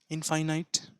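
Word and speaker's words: infinite: এখানেই থাক এখানটা আসলো আই এন এফ আই এন আই টি ইনফাইনাইট ইনফিনাইট না কি উচ্চারণ ইনফিনাইট ইনফিনাইট বাউন্ডলেস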